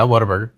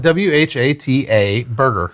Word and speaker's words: Whataburger: Yeah, Whataburger. Okay. But how do you spell it?